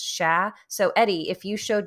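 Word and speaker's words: cher: common to say Oh sha which is c-h-e-r like share which means deer but it's pronounced sha so Eddie if you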